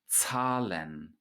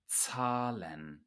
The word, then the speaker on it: Zahlen: And the first thing that we notice is that a Z in German is pronounced like a TS, not like a Z in English. So z, z, Zahlen, Zahlen.